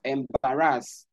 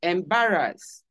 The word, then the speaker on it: embarrass: I didn't pronounce it as embarrass. It's embarrass.